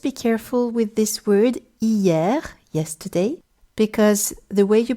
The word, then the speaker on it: hier: Here, just be careful with this word hier, yesterday, because the way you pronounce it is with all the sounds, except H, of course, which has no sound in French when it's on its own, like it is here